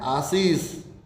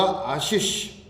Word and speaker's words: आशीष: नहीं भाई, हम बोलते हैं क्या है, आशीष। यहाँ पर हम दंते से दोनों जगह काम में ले रहे हैं, लेकिन नहीं, शुद्ध होगा आशीष। आशीष में पहला शय आएगा, कौन सा आएगा, तालव्य, फिर आएगा मूर्धन्य शय अंत में। यहाँ पर दंते शय आएगा ही नहीं, ये ध्यान रहे।